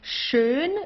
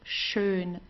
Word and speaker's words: schön: Here you have an sch, it's pronounced exactly the same way as the sh in English, okay, like to shine or so. So it's schön, schön.